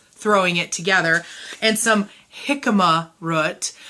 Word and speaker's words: jicama: it together and some jicama root I have to say jicama specifically because the Rumi had to tell me how to say it because I was saying jicama or something anyhow there's also a